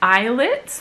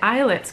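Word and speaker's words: islets: function so the pancreatic eyelids that word is pronounced like eyelids pancreatic eyelids contain two types of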